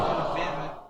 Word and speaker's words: Mamet: Mamet.